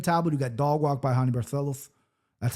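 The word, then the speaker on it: Raoni Barcelos: Easier said than done against Payton Tab, who got dogwalked by Honey Barlo.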